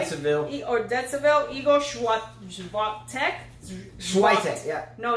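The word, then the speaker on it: Świątek: Igor Swiatek. Swiatek, yeah. No, it's not Swiatek. He said it's Swiatek.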